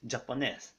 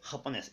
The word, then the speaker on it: japonés: なので、ジャパネスではなく、ハポネス。